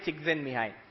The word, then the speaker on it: Csikszentmihalyi: You pronounce it Mihai Csikszentmihalyi.